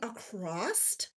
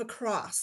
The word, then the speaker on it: across: I had someone put a comment on my tulip shrug and it said, "Why does she keep saying acrossed the row instead of across?" The word is across.